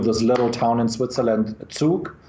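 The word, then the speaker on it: Zug: little town in Switzerland Duke that's by the way the right pronunciation not Zook and to Malta in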